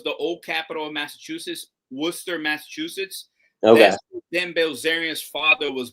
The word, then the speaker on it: Worcester: city which was the old capital of Massachusetts, Worcester, Massachusetts. That's Belarian's father was born. Huh. Interesting. I' I've been to I've been to War it's it's it's funny because it's spelled Warchester but it's pronounced Worster.